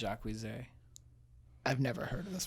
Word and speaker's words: Jacquees: It's spelled Jacques with 2 E's and a Z, but his name is Jacquees, but he says it's Jacquees.